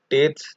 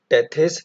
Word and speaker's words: Tethys: So there was a sea called Tate's Sea, which was there in this diagram also. See, it is written Tate's Sea. You can call it Tethys Sea also. It's a right pronunciation.